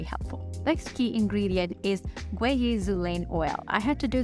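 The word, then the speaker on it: guaiazulene: Now the key ingredients in this oil are, of course, the blue lotus oil, mokate oil, and guazazil oil. It's actually pronounced Guayazulane.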